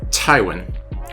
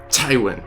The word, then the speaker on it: Tywin: But my actual favorite character name is, and you have to say it like Peter Dinklage, you have to get that t. It's Tywin. I'm Tyrion, son of Tywin.